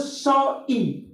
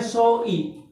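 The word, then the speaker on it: ζωή: dalam hidup di sini dalam bahasa asliin disebut soi ditulisnya Soe bahasa aslinya disebut e dibacanya tulisan abjatnya Soe dibacanya soi Nah jadi di Alkitab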